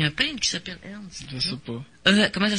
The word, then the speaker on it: Ernst: Il y a un peintre qui s'appelle Ernst. Je sais pas. Comment ça s'écrit ton nom? E-R-N-S-T. Ah, Ernest. J'ai compris. Ernst. E-R-N-S-T, ça se prononce Ernst. Ouais. Pas Ernest.